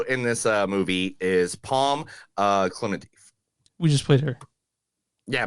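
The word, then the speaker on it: Klementieff: We're gonna hear how to pronounce this real quick. Okay, so Neil has to hear this. So. Oh, it's Klimatiev.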